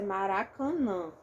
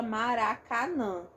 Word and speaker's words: Maracanã: vai acontecer aqui e no meu caso a minha pronúncia Maracanã Então eu tenho a nasalização dos dois últimos as Tem gente que fala Maracanã se a pessoa fala Maracanã não vai aparecer essa nasalização aqui tá aí depende aí